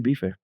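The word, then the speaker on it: bife: But it doesn't have a little behind it. It's just say bef.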